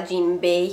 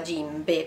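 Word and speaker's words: 甚平: paurosa che a proposito non si chiama jinbei si chiama gimbe perché lei è un allungamento della e si chiama grammatica giapponese e si pronuncia gimbe gimbe eccoci qua è spaventosamente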